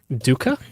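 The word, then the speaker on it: Dukas: Dooka. Oh, the S is silent.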